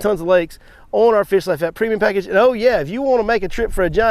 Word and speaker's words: Fish Lyfe: to go download the Fish Life app. It's spelled with a Y, L-Y-F-E, Fish Life app.